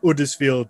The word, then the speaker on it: Huddersfield: Yeah, in Yorkshire, we tend not to pronounce our H's. I'm over in Huddersfield, or Huddersfield, as we probably would pronounce.